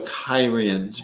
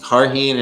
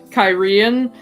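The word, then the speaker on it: Cairhien: it it was always carheen and carhenians i always pronounced it with this with the emphasis on the first syllable so it was always or no on sex so it's always kyren um and then when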